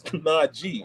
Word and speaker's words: Najee: He says, "Listen, my name is Najee. It's spelled Najee, G, not J.